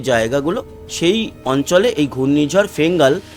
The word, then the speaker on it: Fengal: যাচ্ছে এই গেল গিয়ে ঘূর্ণিঝড় ফেঙ্গাল বা অনেকে বলছে ফেনজাল actually F ই এন জি এল সেই অনুযায়ী বাংলায় ফেঙ্গালি হয় কিন্তু সৌদি আরবের দেওয়া নাম তো উচ্চারণের ক্ষেত্রে হয়তো প টা আসতে পারে পিঙ্গাল বা পেন্জল এরকম সেটা পরবর্তী সময়